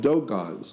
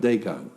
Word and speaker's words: Dogon: Yeah, like Dogons. It's spelled D-O-G-O-N. Dogon, not Dagon.